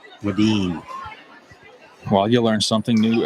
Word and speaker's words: Wedeen: Whedon is pronounced Wedeen. Well, you learn something new every day. So thank you very much, Matt Spaeth. Keep that information. Wedeen.